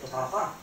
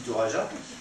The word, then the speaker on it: Toraja: société Toraja, ou Toraja, c'est espagnol, mais je ne parle pas espagnol, c'est Toraja. Toraja, si c'est espagnol, c'est Torara. Torara, voilà, Torara, mais qui se dit Toraja, enfin qui s'écrit Toraja, de 450 000 euros sur